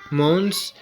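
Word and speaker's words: maunds: be repaid with two mons at Harvest Time so here Mo is spelled as m a u n DS two mons at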